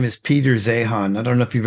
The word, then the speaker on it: Zeihan: His name is Peter Zeihan. I don't know if you've ever heard of him. I have heard of him, and Zeihan. okay. I think he's pronounced Zane, actually.